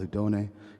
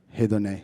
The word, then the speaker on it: Hedoné: And they have started this beautiful project called Hidon. Hidon. I don't know how to pronounce it. Forgive me. Hideon.